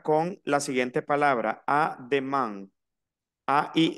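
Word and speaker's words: demain: la siguiente palabra a demand a i n como les dije que se pronunciaba a i n Oh an nasal una a y una n pero nasal an No necesariamente me tengo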